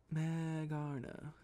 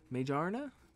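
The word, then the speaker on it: Magearna: newest generation i'm assuming megarna meijarna meijarna that sounds that sounds i don't know if that if the m-a-g-e is pronounced as mage major works for me all right let's see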